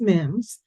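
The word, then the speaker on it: MIHMS: match M Mims um Mi HMS always pronounced Mims which is your main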